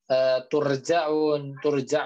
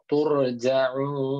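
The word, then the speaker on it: تُرْجَعُونَ: Ingat huruf ro yang sebelumnya huruf dhammah, maka ro-nya menjadi Tebal. ya betul. Ya, ro-nya menjadi tebal, makanya dibacanya bukan turja'un bukan, tapi turja'un gitu, turja'un ditebalkan.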